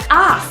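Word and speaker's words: אף: An interesting word in Hebrew is the word af. Af means nose, and you spell that with an aleph and a Fe Sofit.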